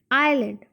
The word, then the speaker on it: island: ISLAND, island. Class, in this spelling the S is silent.